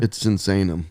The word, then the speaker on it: Sinsaenum: clear the record now do you want to clear the air it's insane them it's insane them you